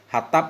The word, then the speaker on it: Hattab: Allamah Yahya bin Muhammadil Hattab bil ha'il muhmalah, Hattab bacanya dengan ha yang tanpa titik.